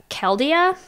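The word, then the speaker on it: Chaldea: coming up on the horizon um called uh kelia which how do you spell that c h a l d e World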